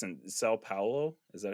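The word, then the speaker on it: São Paulo: the CCXP 2022 in, I believe it's in Sao Paulo. Is that how you say it? In Brazil? Yeah. Sao Paulo.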